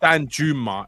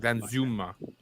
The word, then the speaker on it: Danjuma: pronounced with a z I thought it was Dan Zuma that's what I thought well I I thought I thought that was the Netherlands pronunciation it's not it's not Dan Juma it's like then Zuma yeah yeah something like